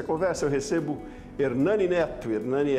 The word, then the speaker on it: Ernane: Hernani é presidente executivo do MBA-R. Essa é a pronúncia, né, Hernani?